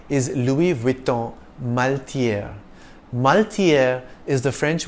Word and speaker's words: Louis Vuitton: dress of all time Louis Vuitton is one of the world's leading fashion houses the S is silent in the first name Louis if you tend to